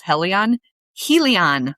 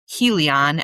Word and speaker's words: Helion: lot of other people call him Helion, as in Helios, the sun god.